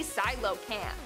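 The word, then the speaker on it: coelacanth: our number one spot today we have the silo camp silo camp which is spelled nothing like it's pronounced i thought it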